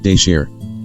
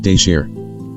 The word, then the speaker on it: tabchaws: TABCHAWS, how is that pronounced again? Mr. Thao, de share. The court, okay. Say it again. Mr. Thao, de share.